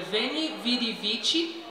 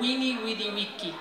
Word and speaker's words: veni, vidi, vici: Na pronúncia eclesiástica seria veni, vidi, vici, mas na que eu vou cantar é wini, widi, wiki.